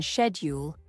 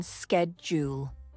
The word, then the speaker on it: schedule: look it up and hear both the British pronunciation shedule and the American pronunciation schedule this not only helps